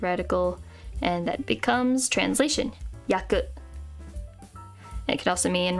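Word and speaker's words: 訳: feet kind of radical, and that becomes translation, yaku. And it can also mean reason, meaning, or circumstance, when it's pronounced as wake.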